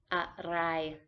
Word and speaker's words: อะไร: With the R again, so sometimes it is an L. อะไร. อะไร. อะไร. อะไร. To be honest, it is probably better to pronounce the R's as L's to be more precise.